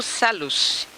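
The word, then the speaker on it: Salusse: Chama-se Júlio Salus, numa pronúncia mais francesa.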